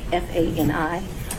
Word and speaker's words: Fani: District Attorney Fani, F-A-N-I.